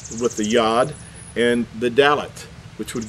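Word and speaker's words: י: be pronounced the same this is referred to in modern Hebrew as the letter yo'd but in ancient Hebrew this letter really should be pronounced as Yad now I'm gonna read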